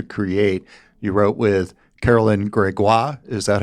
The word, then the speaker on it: Gregoire: You wrote with Carolyn Gregoire. Is that how I say her name? I think it's Gregoire.